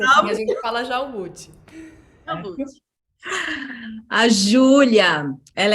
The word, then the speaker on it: Jalbut: eu escuto pronúncias variadas, assim, até Halbut, uma vez eu escutei e eu achei interessante. É Na época difícil da falar seu escola, nome. adotei por um tempo. Albut. É Jalbut, assim, a gente fala Jalbut.